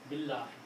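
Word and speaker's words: بِاللهِ: Billahi. Also, in the pronunciation, you have Bi and Allahi. When you combine these two, you do not pronounce alif. Okay? So you pronounce Billahi.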